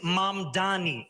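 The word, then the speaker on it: Mamdani: And furthermore, the name is Mam Dani. M A M D A N I.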